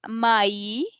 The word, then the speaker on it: mai: Then we have Mai, May. which is May season. And we are also pronouncing A and E separately.